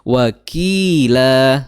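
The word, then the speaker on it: وَكِيلًا: Jadi waqila sama panjangnya dengan qi.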